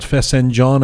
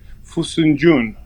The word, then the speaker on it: Fesenjān: Yes, crushed walnut, and the way they pronounce it in Gilaki, I hope I am doing justice. Fesenjān.